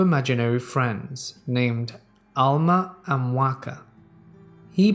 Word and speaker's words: Waka: talking to two imaginary friends named Alma and Waka he pronounced it what care he spoke to them most days for about